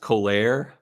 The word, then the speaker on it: Colère: And then they have I think it's pronounced Colère. You know what I'm talking about? Yeah. And it's spelled Colere, similar to just my name and an RE at the end.